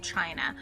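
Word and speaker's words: Qin: the first dynasty of China so the name of that dynasty is the Chin Dynasty it is q i n is where we get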